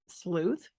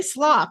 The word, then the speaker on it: sleuth: wanna say sloth, the animal, but so I'm having to, like, correct myself. Sleuth, just think of, like, the sleuthing, like detective, like that's what they used to be called.